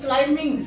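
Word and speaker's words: climbing: क्लाइंबिंग आप इस वजह से कहते हो कि रीजन इसका ये कि इसमें बी को साइलेंट रखा गया है।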